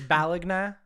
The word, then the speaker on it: Bologna: is like do i do i pronounce it like bologna is is that is that how the italians do it it's balagna they in 1980 there